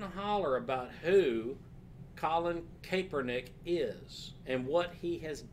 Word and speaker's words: Kaepernick: Does Nike want to own this social justice narrative that Colin Kaepernick brings to this?